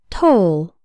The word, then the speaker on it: toll: work on the pronunciation the O in toll sounds like in the words no so role and told say the word after me toll the word toll refers